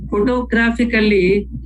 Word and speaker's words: photographically: When we say photographically, we stress on the first syllable and also third syllable.